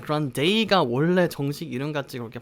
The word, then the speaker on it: Grande: Ariana Grande라고 발음합니다. 자, 일단 이름부터 보도록 할게요. Ariana 아시겠죠? 아리아나를 조금 그 R 발음을 살려서 Ariana 라고 발음을 하고요, 뒤에 이 발음, 뒤에 커피컵 종류인 Grande 라고 발음합니다.